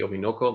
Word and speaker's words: Orinoco: or they form two together they form the obinoko that's the correct way to say it and